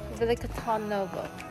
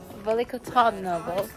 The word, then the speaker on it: Veliko Tarnovo: Veliko Tarnovo. This is how they say it on the audio that they're playing. Veliko Tarnovo.